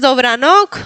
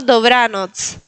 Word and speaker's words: Dobranoc: No es Dobranok, es Dobranoc. Bien, recuerden de marcar la TZ, Dobranoc. Y recuerden de no poner acentos al final. No es Dobranok o Dobranoc, sino Dobranoc.